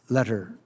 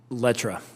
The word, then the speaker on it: Lettre: Mr. Letter, pronounce for me. Letra.